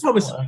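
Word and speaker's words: Thomasin: It's Oh, it's Thomason. Thomason. It is Thomason.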